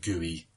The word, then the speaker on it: GUI: so graphical user interface broken down into three letters GUI pronounced GUI it just means graphical